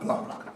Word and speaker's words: Blanc: Blanc. Yes. French. French. Blanc. The C is silent.